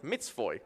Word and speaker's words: mat1jaczyyy: By the way, my nickname is pronounced like Mitzvoy.